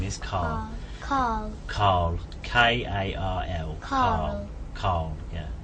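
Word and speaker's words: Karl: It seems like without an R. Yeah, I think it's my accent rather than. I think you said it right and I said it.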